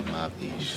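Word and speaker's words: מבאיש: For the slow people, mavish and yosher. Mavish. From ba'ash, like ba'ush, something stink, and yosher, like upright, yashar.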